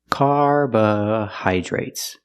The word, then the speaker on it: carbohydrates: at the word carbohydrates carbohydrates some people say carbo carbohydrates some people say carbo carbohydrates the Dr is pronounced with the JJ sound plus the r together J J carbohydrates it's a very long